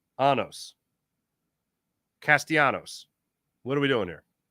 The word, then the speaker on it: Castellanos: Were you pronouncing the L's like he's Greek? Because that's what I did when he first came up with the Tigers many years ago. But he's not Greek. He's a Latino.